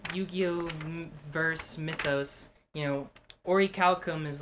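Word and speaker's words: orichalcum: it in black cat google the pronunciation of the word it is ori calcum but really ah so yeah yeah and um but uh in the dub it's ori calcos in the sub it's ori calcum racist okay so it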